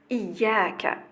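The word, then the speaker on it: إياك: Donc faites très attention à la prononciation, c'est bien iyyaka, d'accord?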